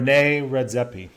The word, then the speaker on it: René Redzepi: name I'm not saying because I think I'll pronounce it wrong. René Redzepi.